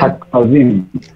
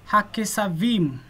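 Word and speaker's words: הַכְּשָׂבִים: So we want to actually close a syllable here. Hak sa vim. Hak sa vim. Want to try it again? Hak sa vim. Well done, Gideon. Joseph, you want to give it a try? Yes. Okay. Hakesavim.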